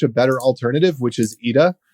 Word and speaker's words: Eta: better alternative which is Eda which is spelled ETA but it's the Greek letter Eda which I don't really